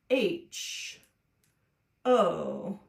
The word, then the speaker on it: whole: entire bow is spelled it's got a another silent letter so it's spelled a little bit funny it's spelled like this w h o l e ho and then the word